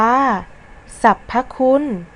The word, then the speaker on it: สรรพคุณ: จึง อ่าน ออก เสียง คำ ว่า ศัพท์ ประสม ด้วย เสียง สระ อะ และ ตาม ด้วย เสียง ตัว สะกด มาตรา กบ ค่ะ ทำ ที่ 4 ธรรมชาติ